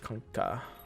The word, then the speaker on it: Kunkka: And also she increases DPS with Stone Gaze, unlike Kunkka.